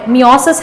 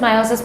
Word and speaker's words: meiosis: ये since मियोसिस है, यू can pronounce it मायोसिस, मियोसिस, whatever you कैन.